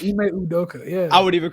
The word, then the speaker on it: Ime Udoka: Ime Udoka, right? Damn. Yeah, I said it right. Ime Udoka.